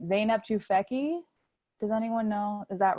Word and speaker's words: Zeynep Tufekci: say I don't know if I'm going to pronounce her name right. Zeynep Tufekci. Does anyone know? Is that right? Okay. Zeynep Tufekci.